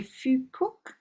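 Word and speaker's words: Phú Quốc: Duncan, my granddaughter is going to have an amazing childhood here in, I'm going to say Fukuok. Am I saying that in anywhere near roughly correct pronunciation?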